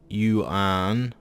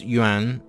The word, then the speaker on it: yuan: The word is one syllable. I hear people go yuan or yuan, and well, that's kind of painful.